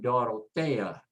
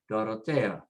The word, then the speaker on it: Dorotea: There is the example of putting the stress as 2 separate syllables, the E-A at the end, break it in half. And so the stress goes next to the last, and we say Dorotea, Dorotea.